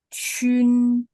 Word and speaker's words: qun: QUN bacanya Chun.